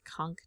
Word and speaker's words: conch: Electronic device, rook device, conchk device. A conchk is also notable for the fact that the ch isn't pronounced like a ch.